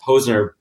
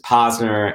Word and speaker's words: Posner: My name is Posner. Back a while when I was growing up, some people mispronounce it as Posner, and it kind of